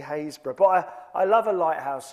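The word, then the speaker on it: Happisburgh: place called Hayesbor, but if you look at how Hayesbor is spelled, you wouldn't call it Hayesbor. It's a bit like Trosley. Um, it's uh called Has Hap, you might read it as Hapesburg. Um, but it is actually Hayesbor.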